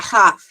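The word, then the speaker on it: כ: kaf is pronounced like challah bread. Challah bread. Yeah, kaf.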